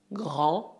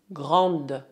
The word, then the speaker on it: grand: usamos as expressões une grande sœur et un grand frère, Tal como acontece com a palavra petit, petite, no masculino o D de grand é mudo, mas no feminino devemos ouvi-lo. Grand, grande.